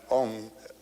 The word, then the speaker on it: Om: written a u m you start in the back of the mouth ah and then o you fill the mouth and M closes at the mouth and when you pronounced